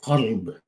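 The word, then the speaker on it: قلب: An example is kalb and qalb. Kalb is a dog, and qalb is the heart. So it's a bit important that you pronounce the words correctly.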